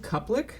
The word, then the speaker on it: Kuplic: and this week's special guest we got andrew cuplek did i pronounce that correct yes that is correct uh